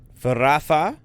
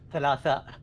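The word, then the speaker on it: ثلاثاء: Faratha. No, with an L. Thalatha.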